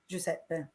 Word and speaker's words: Giuseppe: I can um everybody say it after me Giuseppe okay thank you for that what are you